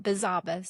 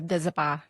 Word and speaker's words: Bizabuzz: It's not Bizabas. Everybody comes in, Bizabas. How do you say the name? So Bizabah. It's just me, AKA I am Bizabah.